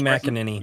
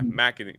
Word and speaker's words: McEnany: Kaylee McEnany. Yeah. McEnany.